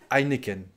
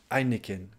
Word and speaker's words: Heineken: suivante emma au quesnoy c'est presque pareil en français sauf que vous vous prononcez le hb du début nous on dit juste heineken heineken je voudrais une pinte